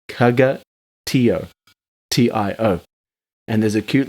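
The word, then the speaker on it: caga tió: Oh, Kaka? maybe. Maybe we're just all saying it wrong. We're saying it like kaka. But it's There's a kaga. maybe. Maybe. Kaga Tio.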